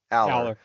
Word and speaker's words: Allar: Drew Allar. Is that how to pronounce it, Dave? Aller.